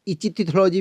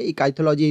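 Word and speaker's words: ichthyology: इकाईथोलॉजी आप इस तरीके से स्पेलिंग लिखा होगा, आप देख सकते हैं, आप कुछ भी इसको प्रोनाउंशिएट कर सकते हैं, इचिथोलॉजी भी बोल सकते हैं, लेकिन वो नहीं है, इकाईथोलॉजी इसको पढ़ते हैं, तो आप इसको याद रखिएगा।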